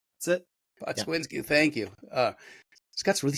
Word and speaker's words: Pokswinski: I've got Scott I just said it right before, and now all right, Pokswinski. Did I get it right? That's it. Pokswinski, thank you.